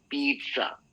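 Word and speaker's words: pizza: इसका right pronunciation होता है पीसा। पीट जो पीठ होती है हमारी पीसा। ऐसे बोलना है। ये इटालियन वर्ड है। इसको हम पिज़्ज़ा बोलते हैं। हिंदी वाले तो पिज़्ज़ा पिज़्ज़ा बोलते हैं। That's not the right pronunciation.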